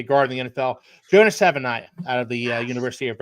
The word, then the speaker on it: Savaiinaea: Savaiinaea. Savaiinaea. That's how you say it. Okay. I butchered that.